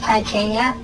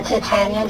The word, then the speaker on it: Titania: There's two of them, the goddess Titania, or Titania, depending on what pronunciation you like best, and the goddess Memora.